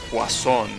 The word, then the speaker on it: poisson: you know for example there is a French name that is written poison with double s but it's pronounced uh poisson right doesn't help that